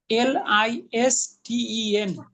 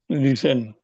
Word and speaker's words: listen: দেখুন ইংলিশে LISTEN উচ্চারণ কি করেন? লিসেন।